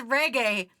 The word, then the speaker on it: Reg: name was never mispronounced yeah it's reg reg people have called me register register thanks day for the